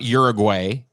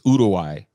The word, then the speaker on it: Uruguay: it like this but i was corrected by an uruwaian it's not uruguay it's urawai so uh yeah the